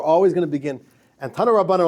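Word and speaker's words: תנו רבנן: It's called Tanu Rabbanan, or like the Polish Yiddish pronunciation is Tuni Rabbanan. It's a little bit different. We would read it Tanu Rabbanan. They say Tuni Rabbanan.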